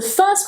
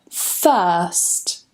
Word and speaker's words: first: So the first rule is the R sound is silent if we have a consonant sound coming after it. For example, in the word first, first. Notice that I don't pronounce the R here, and we have a S coming after that R.